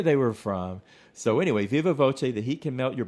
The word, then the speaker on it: viva voce: That's Viva v o c a e and I'm giving it kind of an Italian pronunciation. It's Latin for by word of mouth. I'm not sure if it would be pronounced differently in in uh Latin or Spanish, but I'm saying Viva Voce so I can follow the uh Italian spelling.